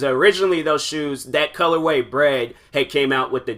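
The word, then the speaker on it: Bred: those would be called Bread, which is black and red put together. It's not spelled like bread, like food. They spell it B-R-E-D.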